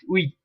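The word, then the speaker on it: huit: not set set wait in french language when you have an h in the beginning like i told you you do not pronounce it in french it is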